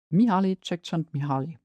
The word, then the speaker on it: Mihaly Csikszentmihalyi: At the top of the list is, of course, quick Google to check how to spell it again and how to pronounce it, Mihaly Csikszentmihalyi.